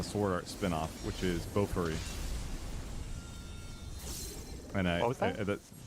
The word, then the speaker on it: Bofuri: The the one that I really like is um I think it's a sword art spin-off which is Bofuri and I Bo B I don't want to say it like a weeb.